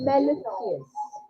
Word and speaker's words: mellifluous: Mellifluous.